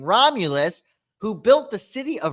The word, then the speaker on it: Romulus: Apparently, a man by the name of Romulus, let me just make sure, Romulus is how you say his name, Romulus, who built the city of Rome.